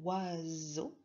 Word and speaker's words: oiseau: Pareil, dans oiseau, j'entends bien le Z. Où est-ce qu'on l'entend? Oiseau. Au milieu du mot.